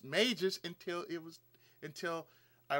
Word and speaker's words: Mages: characters were Mages as maggus I didn't not know it was pronounced Mages until it was until I was told it's pronounced Mages I said okay so it's like Black Mage White Mage a couple of Mages